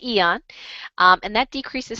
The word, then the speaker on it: Aeon: YH Eon the Eon it's spelled aeon I know but it's called Eon and that decreases stress